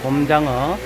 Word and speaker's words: 곰장어: 곰장어 곰장어 여러분들 알기는 곰장어로 알고 계세요. 근데 곰장어라고 부산 사람들 봤으니까요 여기 다른 것은 뭐 쌀이라든지 이런 것은 살 이렇게 발음하면서 곰장어는 또 곰장어라고 이렇게 발음하네요. 된소리를 냅니다.